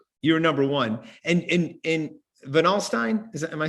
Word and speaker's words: Van Alstyne: And in Van Alstyne, am I saying it right? Van Alstyne, yeah.